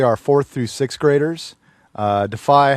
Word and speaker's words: DEFY: So, okay, you have a very nifty program to talk about, and we learned that it's not Deafy. No, it's not pronounced Deafy. It's Defy. Defy is the correct pronunciation, yes.